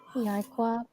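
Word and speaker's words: יעקב: been through, but Kyla, how do we pronounce this? Yaikwab. Yeah, Iquab, right? So yeah, Iquab, bada bing, bada boom, which means like, yeah, Iquab is how you pronounce it.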